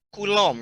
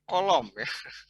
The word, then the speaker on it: Coulomb: Apa nih namanya pulang hukum Coulomb ya bukan kolom enggak pulang saya nggak